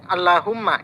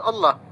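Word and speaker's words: اللهم: kalimat Allahumma bacanya alla karena beda ada tambahan mim ini tetap lafaz Allah ya ini cara membacanya jadi walaupun ya barisnya tegak tidak tegak lurus maka dia tetap dibaca panjang maka alasan yang dia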